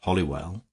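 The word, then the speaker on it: Holywell: some of the people slurred the name and pronounce it hollywell many a minor poet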